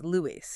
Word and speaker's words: Louis: The hard S is deliberately, unmistakably, audibly there on the track. It's Louis Dolly.